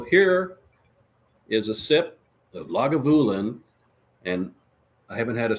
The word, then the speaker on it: Lagavulin: lagavulin I even had to look up the pronunciation of it because I was calling it leguvulon because I didn't care lagavulin is how it's pronounced that and Scotch is